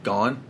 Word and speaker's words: Gane: Gane? Is that how you say it? Yeah.